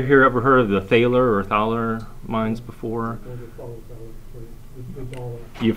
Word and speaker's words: Thaler: to the english-speaking world they were mispronounced and called dollar instead of dollar or Thaler and and that's where